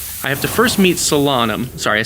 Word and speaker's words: Solanum: I have to first meet Solanum. Sorry, I said Salanum. Selenum, as we found out, her name is actually pronounced.